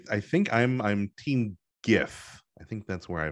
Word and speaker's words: GIF: do you pronounce gif do you pronounce it with a hard g like i do like gif or do you say jif like the peanut butter